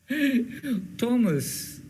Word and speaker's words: Thomas: The black woman le jalam gali gorda the that Thomas Thomas, and we pronounce it as we write it as Thomas. H the Thomas Thomas. H in the English language is generally silent, right?